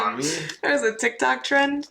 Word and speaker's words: Mami: Mommy? Sorry. Mami? Mami? Yeah, it's Mami. I'm like, as you're laughing at me, I'm like, am I saying it wrong? Mami?